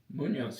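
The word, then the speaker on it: Muñoz: Munoz.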